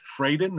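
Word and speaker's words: Fradin: And that book is Who Was Ben Franklin by, that would be Dennis Fraden. Is that pronounced correctly?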